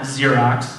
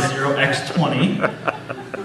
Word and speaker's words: zx20: might know is zx20 not Xerox as a lot of people think it is zx20 um couple groups I've